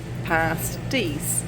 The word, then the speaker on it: pasties: Superior out there for cornish pasties pasties that's how we pronounce them so that's what we're